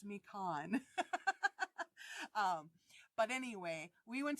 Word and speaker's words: Mequon: I said that wrong I asked my husband how to say it because he was born and grew up in Milwaukee and I can't remember what he told me I think it's me Khan um but anyway we